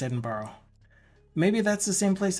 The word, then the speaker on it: Edinburgh: oh borrow edin borrow so it is actually pronounced edin borrow maybe that's the same place that I'm thinking